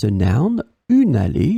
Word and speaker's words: allée: In this lesson, we will see together 3 words that will be written differently but pronounced the same way. Allez, allez, allez. So in the first case here, it's a noun, une allée, it's a feminine noun.